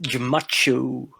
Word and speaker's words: Jemacho: it's pronounced Jemacho.